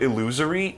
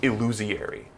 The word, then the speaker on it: illusory: It's like Germa, I think, literally thinks the word illusory is pronounced illusiary.